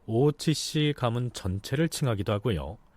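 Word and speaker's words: 大内氏: 하는 내자써서 대뇌라고 써서 일본 발음으로 오우찌씨라고 합니다.이 이 오찌 가문이 관장하고 있던 그 대표하는 것이 대회전.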